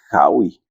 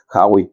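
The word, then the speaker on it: Haüy: Resulta ser que había un señor Valentín, no sé cómo se pronuncia, es Hauy, tiene diéresis la U, Hauy, francés igual.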